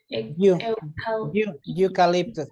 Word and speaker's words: eucalyptus: There are 2 trees in the yard, an elm tree and Eucalyptus. eucalyptus. The pronunciation is eucalyptus.